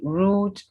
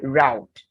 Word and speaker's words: route: Then route, British. Americans could either say route or route.